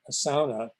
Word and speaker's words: sauna: and and going to more extreme Asana as the Finns pronounce it was a sauna uh it's hot the